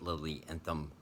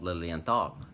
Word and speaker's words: Lilienthal: I actually pronounced it Lily Anthem Berlin on this watch when I first got it and goo talking at me again saying hello but it's actually called Lilienthal like with a tal Lily and thought oh